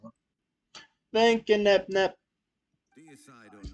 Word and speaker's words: Deicide: Diocide. Diocide. So the kill gods means diocide. Deicide.